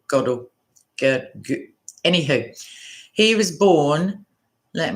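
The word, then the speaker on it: Gödel: person is kurt friedrich uh girdle it's g o with the numla d e l so godel goddell anywho he was born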